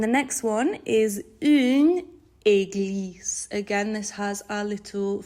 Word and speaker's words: église: Okay, and the next one is une église. Again, this has our little phonics letter in there, so it's an A sound at the start, so it's une église, and this is the French word for a church.